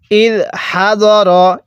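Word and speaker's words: إِذْ حَضَرَ: আম কুনতুম শুহাদা আ, এরপরে ইদ হাদর, হ্যাঁ কিভাবে পড়ব? ইদ হাদর, অনেকেই হাদারা পড়ি, এরকমভাবে পড়ব না।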